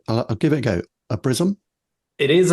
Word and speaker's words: Obrizum: Obrizum? It is Obrizum, yes, and I like that question. So do our founders. Obrizum is the Latin expression for pure gold, and